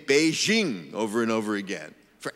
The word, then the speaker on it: Beijing: us radio and television pronounce the J in the name of the Chinese capital in the French manner even though the Mandarin Chinese sound that it represents is a good deal closer to the English pronunciation of Jay than to the French nevertheless they keep saying